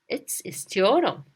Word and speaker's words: istiyorum: Esther, I want you to clean your room, right? So it's istiyorum.